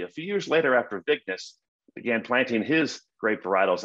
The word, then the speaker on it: Vignes: He's French, so the French pronunciation is usually something like Vignier, but today in California, we have a street named after him, actually near Union Station, and they pronounce it Vignes Street.